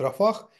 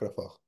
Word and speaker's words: Рафах: хочу сказать что что во всём остальном мире его называют рафах Но почему-то вот в Израиле принято такое произношение нах потому что заканчивается Ну